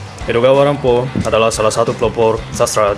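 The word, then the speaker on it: 江戸川乱歩: Jika diucapkan dengan aksen Jepang, Edogawa Rampo terdengar seperti Edgar Allan Poe.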